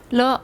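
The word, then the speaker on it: 了: 중국 발음 어떻게 돼요? 러.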